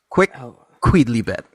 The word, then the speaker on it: quicquidlibet: Quick Queedly bet. Wow. Yeah. Quick The Queedly phonetical bet. spelling is ridiculous, but that, I assure you, is how it is said, how it is pronounced.